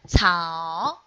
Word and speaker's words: 草: Attention, there is say, letter say, right? Say, we read it as ts. Follow me to read that. Ts. Yes, very good. And owl, so that's 草.